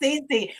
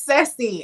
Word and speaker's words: Ceci: just corrected me i heard that it's not pronounced cc pronouncing for the audience for us it's sexy actually yes so let me tell you a